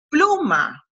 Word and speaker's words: pluma: de la palabra pluma si en la palabra pluma el acento prosódico está en la primera sílaba en la sílaba porque cuando pronunciamos estas estas dos sílabas aquí hay una y aquí está la otra hay una más fuerte es la más fuerte nosotros decimos que pluma y ahí está más fuerte la primera si ésta